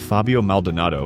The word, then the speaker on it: Fabio Maldonado: Initially pulled from UFC 186 Rampage was reinstated just days before the event and returned to beat Fabio Maldonado by decision at a 215 lb catchweight.